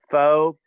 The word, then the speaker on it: Pho: kim's last name please fo p-h-o thank you but pronounced like an f yeah that doesn't need